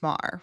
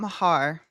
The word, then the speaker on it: Maher: I think his name is pronounced Maher, right? It's not Mahar.